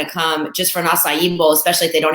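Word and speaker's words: açaí: you're talking about with a lot people call a chi bowls and so when you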